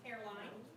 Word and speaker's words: Hairline: Behind tab 16 is a recommendation for Alex Hairline, that's the way you pronounce his last name, Hairline, for Gravette Middle School math and Gravette High School head wrestling coach.